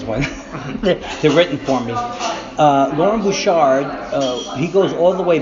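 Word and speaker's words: Loren Bouchard: So you work with, I've never heard his name said, but I'm hopefully pronounce it right, Lauren Bouchard? Lauren Bouchard, yeah.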